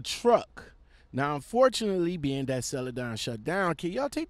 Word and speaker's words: Celadon: So, I came across a couple of videos, a couple of articles about Celadon. Yes, I said it right, Celadon.